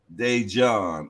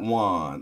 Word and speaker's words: Dejon: the podcast this Friday he said n pronounce it dejon okay okay okay not Juan okay dejon that's a